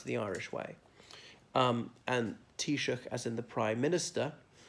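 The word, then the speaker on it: Taoiseach: could say Shannon if you really want to pronounce the Irish way and T shook as in the prime minister but even speaking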